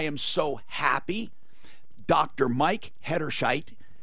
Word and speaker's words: Hederscheit: Mike Hederscheit, it rhymes with the name Bright Light.